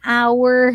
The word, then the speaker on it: hour: you might be confused why is it that she's saying an hour okay that hour is with an h or a unicorn y